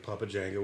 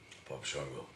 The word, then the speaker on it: Papa Shango: I just like skulls and stuff, and this guy thinks I look like Papa Django, which is cool because I like wrestling. Shango. Shango. Papa Shango.